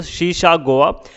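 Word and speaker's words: Sesa Goa: अगर प्रोनाउंसिएशन देख लीजिए दोस्तों, शीशा गोवा।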